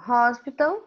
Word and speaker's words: hospital: Que o H é pronunciado como se fosse um R.